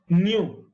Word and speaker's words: nu: This is nu. Nu is Nu. This is how it is pronounced.